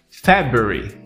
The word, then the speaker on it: February: Se você falou February ou February, você não consegue falar ainda o segundo mês do ano. O segundo mês do ano se pronuncia como February.